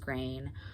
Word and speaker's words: Green: I know the name is spelled Green, Green, but I'm pretty sure it's pronounced Grain. I did look this up in the past and read that her name was pronounced Grain, so I chose to pronounce it.